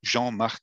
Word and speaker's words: Jean-Marc: So Jean-Marc is the way it's pronounced, is a composite first name.